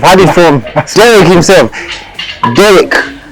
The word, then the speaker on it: Derek: Derek. It's Derek. It's spelled D-E-R-E-K, but it's pronounced the same as yours.